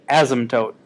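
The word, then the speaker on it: asymptote: by a dotted line This is called an ASM toote it's spelled like this a y MP t o t e in asmt that's a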